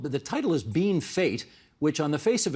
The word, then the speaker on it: Bienfait: Saskatchewan, very near the North Dakota border, called Bienfait, Bienfait, Bienfait. French. But the locals have always called it Being Fate.